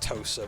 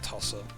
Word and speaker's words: Tosa: It's pronounced Tosa, but I always called it Tossa.